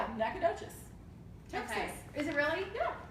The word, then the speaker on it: Nacogdoches: trying to and not doing it so well pronounce them because they are super tongue twisters so we are on this Nacogdoches it's Nacogdoches okay is it really not good Nacogdoches Nacogdoches